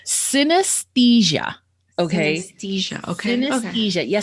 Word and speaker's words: synesthesia: Synesthesia. Okay. Synesthesia. Okay. Synesthesia. Yeah. So I guess it's like anesthesia, but synesthesia.